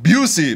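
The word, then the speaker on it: Busey: Greg Burn comments, "Who is Gary Bosie?" It's pronounced beauty, Mr.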